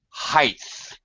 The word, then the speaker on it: height: all the time Monica do not say height with a th height you do say what